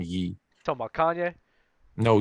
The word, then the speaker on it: Ye: I think his name is Yee now. He legally changed his name to Yee, so you probably should call him Yee. Talking about Kanye? No, Yee.